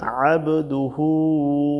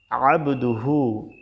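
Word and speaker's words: عبده: আবদুহু যদি এখানে বলি তাহলে কিন্তু এখানে আলিফ দিয়া হচ্ছে। আইনের উচ্চারণ কিন্তু এখানে আসতেছে না। আবদুহু সহজভাবে বলতেছি। আর এখানে কিন্তু আবদুহু না। এখানে কিন্তু আইন দিয়া। তো সেক্ষেত্রে চাপ দিয়ে বলতে হবে। আবদুহু আবদুহু।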